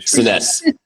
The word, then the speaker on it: Senese: Dang it, how do I pronounce your last name? Sess. I'm keeping that in. Sess with us.